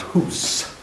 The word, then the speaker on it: Hus: more correctly spelled with one and more correctly pronounced who's John who's his name actually means and bohemian